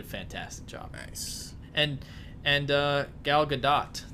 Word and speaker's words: Gal Gadot: job banks and and gal gadot that's how you actually say her name is because I recently found that out she was good